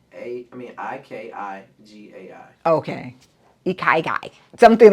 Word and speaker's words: ikigai: Did I spell it right? IKIGAI.